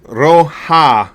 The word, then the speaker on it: Rauha: afraid to use it Finnish language in general is about rolling them arse and putting emphasis on the first letter or part of the word oh really that's good